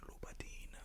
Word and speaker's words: Louboutin: But then you have some people that come in and they're just like, actually, no, it's Christian Louboutin.